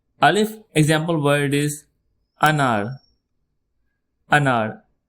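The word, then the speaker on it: الف: The first alphabets of Udu language starts with alphabet alif. Al if it sounds like al without t sound al if repeat after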